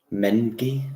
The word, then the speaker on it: Mengi: Just drags him down, Mengi. That's how you pronounce his name.